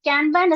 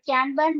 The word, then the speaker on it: Kanban: So where others are no like it involves no like a framework method, but Kanban is a visual method. So other things, like it's pronounced as can and ban.